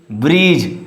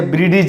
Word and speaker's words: bridge: Here is bridge. Don't say bridge. Here is bridge. So silent letter is D.